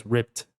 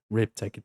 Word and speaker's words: ripped: Então fica smashed, smashed, depois ript, ript, ó, termina na escrita com d, mas termina com som de t. Então fica rip, ripped.